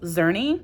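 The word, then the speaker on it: Czerny: him and his friend I think it's pronounced xery and xery died when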